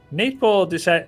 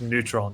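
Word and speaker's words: Нейтрон: Neytpoh, Neytpoh, that's how I've always been calling him until I learned it's actually Cyrillic lookalike letters that are pronounced as neutron.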